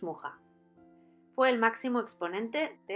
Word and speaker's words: Mucha: modernista Tenemos que hablar de alfons mucha O có estaría mejor pronunciado alfons muja fue el máximo exponente